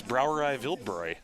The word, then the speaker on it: Brauerei Wildbräu: It's Brauerei Wildbräu.